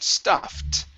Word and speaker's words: stuffed: stop quickly dog okay now the ed is going to be a t sound stuffed a stuffed squeaky doll